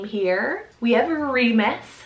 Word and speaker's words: Remus: another harry potter inspired name here we have remus spell r-e-m-u-s remus it's one of the twins who actually